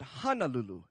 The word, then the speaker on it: Hulu: this letter in Hulu not hanal Lulu but Hulu h n a our A's are pronounced as a as a uh uh